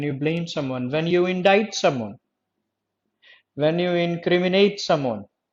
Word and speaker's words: indict: accuse someone, when you blame someone, when you indict someone, when you incriminate someone, when you inculpate someone। जब आप किसी को दोषी ठहराते हो ना, inculpate, incriminate, allege, accuse, blame, indict और inculpate।